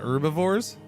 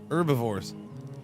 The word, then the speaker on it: herbivores: What about herbivores? Herbivores. I still say herbivores. There's carnivores and herbivores. Yeah, I I will say herbivores. I don't know. Sometimes it might come out as herbivores. I I I probably I probably am uh guilty of saying both herbivores and herbivores.